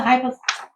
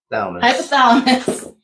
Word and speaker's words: hypothalamus: And it your adrenal glands send out the freaking soldiers, which is the cortisol to send a message back to the hypotheus. Hypothalamus.